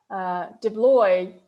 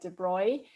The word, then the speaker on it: de Broglie: And then 2 years later, de Broglie or you probably want to pronounce his name as de Broglie, but actually you can, it's a French name, I believe, and the L-Y-E can be pronounced as kind of Y, so it's like de Broglie.